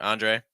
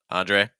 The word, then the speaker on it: Andre: as uh it's like Andre Andre stress first syllable an Andre okay we have Andre